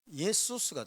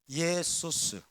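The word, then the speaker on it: Ἰησοῦς: 헬라어로는 예수스가 돼요. 예수스. 예수스. 헬라어에는 쉰 발음이 없어요.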